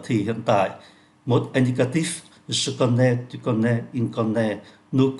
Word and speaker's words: connais: Chúng ta thấy là ba cái ngôi số ít này phát âm giống nhau: je connais, tu connais, il connais. Nhưng mà cách viết thì khác nhau.